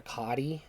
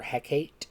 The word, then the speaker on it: Hecate: I also prayed to hecatee some call her hecati or heckate however you say her name I say hecatee that's just how I heard it first and it sounds right to me and it looks right